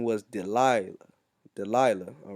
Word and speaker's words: Delilah: delilah okay feeble okay delilah da la delilah all right that's how you say it in the hebrew okay the philistine mistress